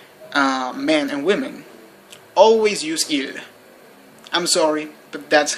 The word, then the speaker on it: ils: little bit weird but they are pronounced exactly the same as their singular counterparts although they are spelled